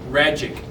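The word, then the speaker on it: Rajcic: It's Max Ragic. That's hard to say. It doesn't just roll off the tongue. You got to work at that, right? It rhymes with magic.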